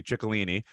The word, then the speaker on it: Ciccolini: So Jordan Ciccolini, I think she's Italian, so I'm gonna pronounce it correctly. Ciccolini.